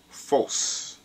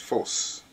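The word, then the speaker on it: φῶς: used the Greek word, which is phos. That's how you pronounce it, phos.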